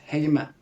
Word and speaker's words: heime: Well, in my because it's a dialect word for home in Norwegian. So the way I would say it is heime. Thank you. Yeah. Okay, Heime, because I've been pronouncing it all wrong according to your dialect.